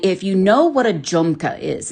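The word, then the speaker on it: jhumka: And if you know what a junka is, it's spelled J Hu M K A.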